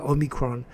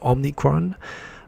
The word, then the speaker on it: omicron: just because of the number of people i see on tv mispronouncing uh omicron uh what is it and you know what it only seems to be english speakers that seem to be prone to calling it omnicron um yeah it drives